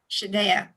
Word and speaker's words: Shaunay: Shaunay, like the singer Shaunay.